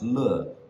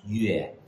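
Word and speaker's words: 乐: So number three can either be pronounced le, or it can be pronounced yue. Le means happy or enjoyment from kuai le, and yue means music from yin yue.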